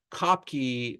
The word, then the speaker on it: Kopke: So Kopke or Kopke, I think is actually how you're supposed to pronounce it. But we also, Anglicize it with an E. Kopke is how most people say it in America, but it's Kopke.